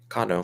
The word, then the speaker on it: Cano: us on this side of the world latin pronunciations that actually helped me kano yeah that's how i would say it kano or perfect are you japanese i am not